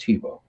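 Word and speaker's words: Thibault: t h i b a u l t pronounced TBO he's sitting behind an old wooden desk with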